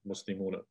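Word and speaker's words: مُسْلِمُونَ: all the vowel points, it's better to say muslimuna. Muslimuna, say and pronounce the fatha at the end. Muslimuna, so you don't get mixed up.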